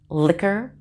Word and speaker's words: liquor: look at some words where q and u are together but the u does not make a w sound it's silent the q as always is just k but no w sound with it here's some words liquor